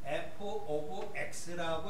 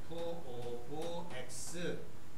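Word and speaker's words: f(x): 그래서 영어로 그럴 때는 f오 x라고 읽어요. 이거를 f오 x. x의 펑션이란 의미로서 f x라고 읽는데 이렇게 쓰기도 하지만 y x 이렇게 써도 무방한 것이고 g x 이렇게 써도 무방한 거예요.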